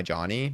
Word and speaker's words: Jony: My name for my my name being like J O N Y Johnny. Like my pronunciation of that is literally just because in Spanish that's just how we spelled it.